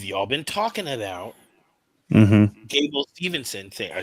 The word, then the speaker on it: Gable Stevenson: And then you have a setup for Gabe Stevenson, who've y'all been talking about. Mm-hmm. Gable Stevenson. I said the name wrong.